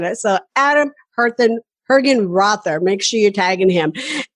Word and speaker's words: Hergenrother: also tag our guests today which is Adam hergenrother and Adam please make sure I'm saying your